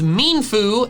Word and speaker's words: Mienfoo: Apparently, the official pronunciation is Mienfoo and Xiao. Mienfoo. Xiao. This was news to me. The mien comes from ermine, a type of mustelid, the class of animal that they're based on.